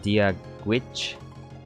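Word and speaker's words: Dia duit: Irish remember means hello, pronounced Dia Gwitch.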